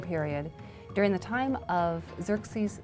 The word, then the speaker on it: Xerxes: His Persian name, in Old Persian, which is his original native language, is Shayarsha. Now that was hard for the Jews to pronounce, so they said Ahasuerus. We know him as Ahasuerus. And the Greeks said Xerxes, which is Xerxes.